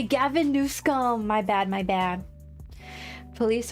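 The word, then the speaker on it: Newsom: New scum. Say it correctly. Gavin Newum.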